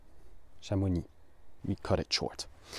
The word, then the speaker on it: Chamonix: We say shamoni. Shamuni. We cut it short. The X at the end, I'm afraid, is silent.